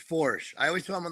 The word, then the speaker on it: Foersch: It's spelled like that. It's Foersch.